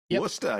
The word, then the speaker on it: Worcester: Worster. Yeah, that's Yep. Worster, right? It's spelled differently, but it's pronounced like like that, right?